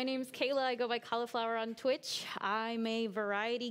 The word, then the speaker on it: Cahlafour: So everybody always thinks it's like the veggie. You pronounce it like the veggie, I guess. Yeah. But so my real name's Kayla, but spelled like Kala is in cahlafour.